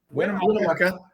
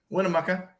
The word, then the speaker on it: Winnemucca: Winnemucca. Winnemucca. Winnemucca. I was putting the Winnemucca. emphasis on the wrong syllable.